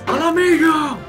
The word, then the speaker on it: Mhigo: But that was Mhigo! You gotta say it like that, man. Everybody says it throughout the entire expansion. You just gotta do it.